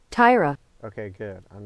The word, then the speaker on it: Taira: his name let's look it up really quick Tyra Tyra okay good I'm not an idiot then okay